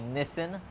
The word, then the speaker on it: Nissan: Mitsubishi fan on to Nissan or I should say Nissen as it's pronounced in Australia and around lots of places in the world GT R 2017 pretty